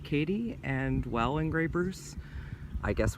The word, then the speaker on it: Keady: looks like Kati but according to the locals it's pronounced Katie and well engravers I